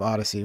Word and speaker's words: Odysee: It's not spelled like your typical Odyssey, you know. It's a different spelling of Odyssey.